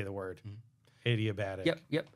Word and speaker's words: adiabatic: I don't know how to say the word adiabatic yep yep adiabatic you got it yes so we also have